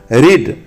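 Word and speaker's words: read: rest रेस्टेड रेस्टेड 102 रीड आरई एडी रीड पढ़ना रीड रेड रेड हालांकि spelling सबका same है आर ई ए D pronunciation रीड रेड रेड 103 rise are आई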